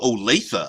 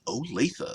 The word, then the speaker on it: Olathe: Oh, Olathe. I apologize for that. It's pronounced Olathe.